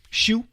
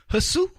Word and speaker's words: Hsu: Shu, HSU. They should just spell that phonetically because that jacks people up. Hasu, HSU, Shu. Anyway, Robert Lee got kicked off of doing a broadcast.